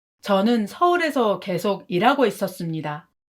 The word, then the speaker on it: 계속: In Korea, when you want to emphasize the word 계속, you elongate 개 when pronouncing like 계속.